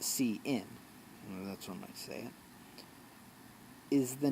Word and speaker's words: cin: used for the input CIN CIN pronounced see in electronics where is the